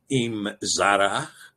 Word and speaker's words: Emzara: Now, in the book of Jasher, we see the name Emzara given. And I believe that this is a pronunciation transliteration, Imzara.